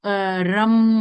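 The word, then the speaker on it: रं: इसका जो अगर आप मंत्रा देखेंगे तो रम होता है, RAM होता है, राम जैसा होता है, लेकिन उसका उसका प्रोनाउंसिएशन रम, यानी र में आपको थोड़ा सा उसको स्ट्रेच करना है, रम।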